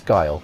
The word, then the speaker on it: Guile: I believe it's Guile, but a lot of people call him Gil.